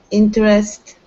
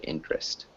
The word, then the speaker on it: interest: words yes we draw interest collateral nice that was really good really great pronunciation of interest a lot of people pronounce that middle e but you're not supposed to so it sounds like interest that was great the